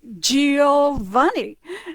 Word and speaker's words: Giovanni: And if you do GI, it's G, like Giuseppe or Giovanni.